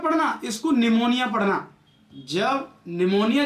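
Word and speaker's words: pneumonia: जब निमोनिया जो होता है, इसको मोस्टली स्टूडेंट्स पिनमोनिया पढ़ते हैं, पी साइलेंट रहता है।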